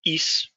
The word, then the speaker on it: hic: HIC, pronounced is, would be used in every person except for 3rd singular.